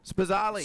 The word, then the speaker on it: Spazzali: Luke Spazzali, is that how you say it, Jake? Yep. Spazzali.